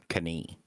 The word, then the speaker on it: knee: And 500 years ago, the K in knee would have been pronounced knee. All the silent Ks used to be pronounced knife, knee, knight. Neat.